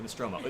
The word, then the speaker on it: Nostromo: Is that how you Yes, the pronounce Nostromo. it? The Nostromo.